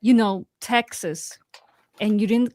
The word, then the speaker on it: Texas: I know it's pronounced Texas because the Americans won.